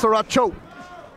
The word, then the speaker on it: Saracho: But I'm not, it's Saracho.